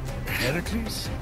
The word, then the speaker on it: Heracles: Heracles? Yeah, that! That is how it's supposed to be pronounced.